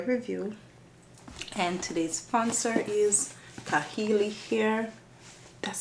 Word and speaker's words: Klaiyi: to another hair review and today's sponsor is C hey hair that's how it's pronounced K har you guys know fun thing about this company